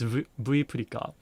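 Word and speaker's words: Vプリカ: sell Visa prepaid cards called V Preka or Purika, but it's in Japanese it's V Purika, which is V as in virtual, then Purika as in Prepaid card, so Purika, right?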